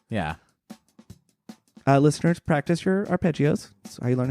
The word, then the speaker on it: Arpeggi: weird fishes slash arpeggi do I have that pronunciation right or is it our pagy uh it both but I think in in our uh arpeggi is correct because is it a cheeky reference to the arpeggio picking pattern of the guitar